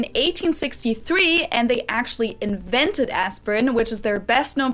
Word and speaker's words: Aspirin: about is the painkiller aspirin ah or aspirin aspirin that was the english pronunciation but the correct german pronunciation would actually